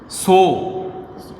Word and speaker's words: Tso: सो TSO, इसमें T silent है।